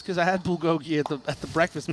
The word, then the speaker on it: bulgogi: do have some Bugatti bugti first of all I pronounced it bulgogi okay but I know now it's bulgogi okay and I actually